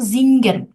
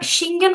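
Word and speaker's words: singen: তো আপনারা চিনেন জিংক মানে কি বলেন তো জিঙ্গেন জিঙ্গেন মানে কি বলেন জিন আচ্ছা আপু জিঙ্গেন মানে সিঙ্গেন গান করা গান করা তাহলে এটা সিঙ্গেন হলো না কেন বলেন তো এটার উচ্চারণটা জিঙ্গেন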